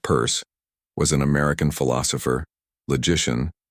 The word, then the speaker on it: Peirce: Charles Sanders Pierce, pronounced purse, was an American philosopher,